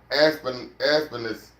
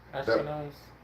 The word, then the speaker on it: Ashpenaz: Aspenus. I think that's how you say his name. Ashpenaz. Aspenus. Ashpenaz. It's like Yeah. we saying Ashkenazi.